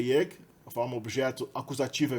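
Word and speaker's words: ég: Então, na primeira pessoa, a gente tem aí yeg, né? Esse E com acento agudo é pronunciado ye, no islandês moderno.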